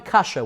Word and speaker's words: Kasha: Rabbi Ephraim Kasha was his name. Not kasha like a question. Kasha like the Russian way to say wheat.